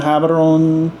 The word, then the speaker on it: Gaborone: Or how do you say Gaborone, Gaborone? Gaborone.